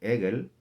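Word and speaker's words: עגל: Otra vez, becerro se escribe y se dice en hebreo, se dice Egel. Egel se escribe con una ayin, una Gimel y una Lamed.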